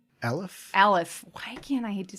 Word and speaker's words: Aleph: And how do you pronounce the letter again? Aleph? Aleph.